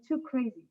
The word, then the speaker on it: 2CRSI: give you a trick usually english speakers pronounce it pronounce our name too crazy so maybe we're too crazy will be easier and why too crazy